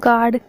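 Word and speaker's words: guard: जब जी के बाद यू आता है तो यू साइलेंट होता है। Example गार्ड, guilty.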